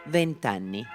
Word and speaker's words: vent'anni: Notice that when the number ends with a vowel and is followed by anni, Italians often drop the final vowel for smooth pronunciation. 20 anni, vent'anni.